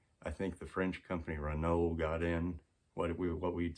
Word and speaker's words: Renault: I think the French company Renault got in, what we'd say Renault. That's how it's spelled.